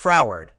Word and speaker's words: froward: Word type, adjective, pronounced as fro, weird, with the stress on the first syllable.